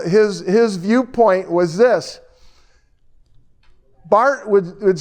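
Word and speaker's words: Karl Barth: and then you got Carl Bart b a b a t h it's but in German it's Bart and uh Carl Bart is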